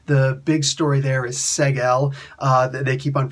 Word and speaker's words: Seg-El: The big story there is seg-el. They keep on pronouncing it seg-el.